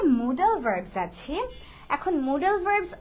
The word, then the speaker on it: modal: এটাকে কিন্তু অনেকে মডেল বলে যে মডেল ভার্ব, কিন্তু উচ্চারণটা মডেল না, উচ্চারণটা হচ্ছে মোডাল। ইভেন রাইটিং এও মোডাল, ইটস নট মডেল। Okay, so এই মিস্টেকটা আমরা কেউ করবো না, আমরা বলবো মোডাল ভার্বস।